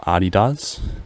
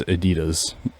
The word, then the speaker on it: adidas: she was correct so now i call adidas like germans do and it's it confuses people mostly i don't know why i do that because it's incorrect to say it like in english it's adidas so i think i